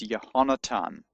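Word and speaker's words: יונתן: They're both pronounced in modern Hebrew as a t sound, not as a th sound. So, actually the name Jonathan in Hebrew is yonatan and in modern Hebrew pronunciation.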